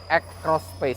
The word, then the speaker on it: X Space: Ini X-Cross Space, walaupun tulisannya X Space ya, tapi bacanya X-Cross Space.